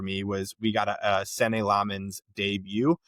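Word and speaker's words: Senne Lammens: The big standout for me was we got a Sen Lmens debut. Sen Lmens is how I believe you say his name.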